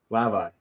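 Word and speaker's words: Hlavaj: Hlavai.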